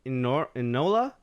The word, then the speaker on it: Enola: I've always mispronounced her name, Enola. I think that's how it's pronounced.